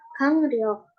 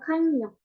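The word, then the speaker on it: 강력: Mahasiswa melafalkan Hangmu dan Gangnyeok tanpa perubahan bunyi, yaitu menjadi Hangro dan juga Gangryok. Yang seharusnya benar adalah Hangmu dan juga Gangnyeok.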